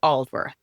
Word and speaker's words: Aldworth: So, coincidentally, it starts with the name you couldn't pronounce. It's Oldworth.